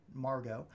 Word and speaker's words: Margot: there's a new kid Margo it's a French ish name so the T at the end is silent it's not Margot it's